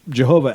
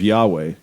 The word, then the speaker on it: Yahweh: Jehovah by name, which Jehovah actually is just a mispronunciation of Yahweh, where Europeans weren't sure about the Hebrew and were pronouncing letters that were supposed to be silent.